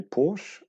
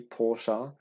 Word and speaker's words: Porsche: united kingdom so therefore we always called it a porsche it is an incorrect way of actually pronouncing it it should be porsha but essentially you know